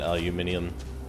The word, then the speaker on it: aluminium: a high level ashta aluminium aluminum never got that pronunciation aluminium there's no second eye to make it spell the word mini to talk be